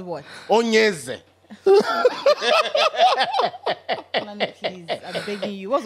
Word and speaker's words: Onyeze: I remember that the book, whenever, like, that's how they spell it, Onyeze. I said Onyeze. The pronunciation is Onyeze.